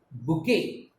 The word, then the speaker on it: bouquet: Bouquet, the last T is silent.